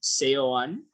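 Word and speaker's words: Seoane: Gerard or CEO one it's hard to pronounce s-e-o-a-n-e so that's Gerardo sayon he's our new coach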